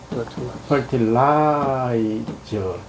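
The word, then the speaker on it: fertilize: 여러분들 퍼티라 하니까 발음에서 아이를 아이로 발음해 줘야 돼. 그러면 퍼티라이즈 그렇게 펄티가 아니고라이 아이는 아예 발음 근데 무빙은요 상태에서 이렇게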